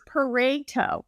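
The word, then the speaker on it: Pareto: this morning that it's it rhymes with potato. So that's what that's what I learned. So it's parto is my understanding.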